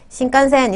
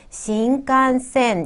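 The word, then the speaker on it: 新幹線: 어, 우리는 신칸센 이렇게 세 박자로 세움절로 얘기할 수 있지만 일본 친구들한테 신칸센 이렇게 하면 잘 못 알아들을 거 같아요. 여섯 음절이나 되거든요. 여섯 개의 박자를 끄셔야 되죠. 그래서 신간센 이렇게 미는 듯이 발음하셔야겠죠.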